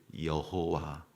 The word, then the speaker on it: 여호와: 그래서 거기에 그 아도나이라고 하는 그 아도나이의 모음을 찍어서 이렇게 읽어본 것이 여호와 혹은 야훼 이렇게 이제 발음이 되는 겁니다.